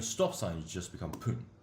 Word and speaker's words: 分: Because we got a stop sign, so it's not hun, but rather pun.